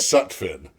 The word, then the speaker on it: Sutfin: So, I wanted you to say No, it's uh it's Sutfin.